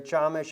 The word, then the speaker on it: Chamish: But he has seen much like Joel Boehnerman, Barry Chamish. I know Barry as well. Chamesh is actually how you say his name, but he says it, I guess, for the English speakers.